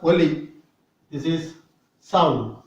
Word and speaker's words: ஒலி: நுனி நாக்கு மேற்பல்லின் மேற்பக்கத்தை தொட வேண்டும், ஒலி.